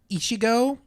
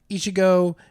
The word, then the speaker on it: Ichigo: I do not know how to pronounce this name. Ichigo.